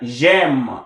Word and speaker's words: j'aime: So here you pronounce it like j'aime, j'aime, because you've dropped the E here.